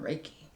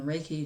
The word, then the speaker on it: Reiki: what I'm doing is a little thing called raiki and if you're familiar with it awesome if